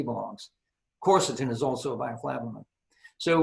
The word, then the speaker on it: quercetin: Looks more like quercetin, but it's pronounced like COR.